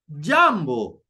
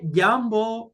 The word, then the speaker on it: jambo: If I'm saying hello in Swahili, we say jambo. Why jambo? Because jambo has only two syllables. So in this case, the second last syllable is ja.